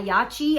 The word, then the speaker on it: Yachyee: this is Beautiful by yachi I think that's how you say it y a c h